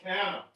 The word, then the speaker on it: canna: and this one too, canna. Okay, this is called canna. What, say it again. I'm sorry. Canna tropicana. Canna, C-A-N-N-A. And the variety is tropicana, so it's easy to remember because it rhymes.